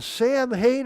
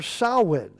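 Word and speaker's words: Samhain: I've heard people say, "What in the Sam Hayne are you doing?" Well, that's not the proper pronunciation.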